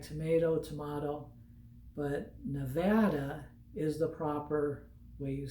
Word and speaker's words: Nevada: to visit so the first one is it's pronounced nevada a lot of people say nevada it's like tomato tomato but nevada is the proper way you say it just